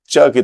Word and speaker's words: Czech: Country का नाम है जिसको मैं कभी बोलता था ज़ेक रिपब्लिक, मुझे भी नहीं पता था इसका सही प्रोनाउंसिएशन क्या है, लेकिन मुझे एक ज़ेक रिपब्लिक के ही एक इंसान ने बोला कि इसको चेक बोला जाता है, चेक रिपब्लिक।